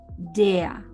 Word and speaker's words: der: Nos acordamos que la R no suena mucho, entonces es der. Se pronuncia der.